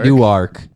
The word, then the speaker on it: Newark: so in newark new jersey we're gonna say new arc knock newark knock knock will work so newark